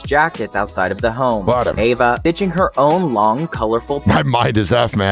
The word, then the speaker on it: Eva: I thought it was Eva. Ava, how do you Okay, one second. Here we go. We're going crazy. How do you pronounce Eva Mendes? Maybe it's Ava. Maybe I'm wrong. It's Ava.